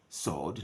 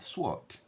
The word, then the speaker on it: sword: have silent letters there so this is Jews sword not swart plammer draw right not